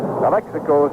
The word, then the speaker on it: Alexakos: Alexakos is the way he pronounces his name, right?